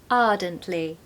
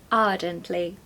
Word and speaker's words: ardently: enthusiastically passionately now remember if you want a British accent don't pronounce the r okay so take away that R so that it sounds like ardently ardently number four cordial cordial